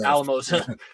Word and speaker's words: Alamosa: I was about 10 I thought this city that the school is located in was pronounced asima because my father refuses to pronounce it Alamosa how why does the